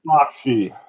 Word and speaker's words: Bakshi: Bakshi.